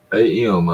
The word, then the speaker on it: Cheatham: Cheatam, I believe is the way they pronounce it.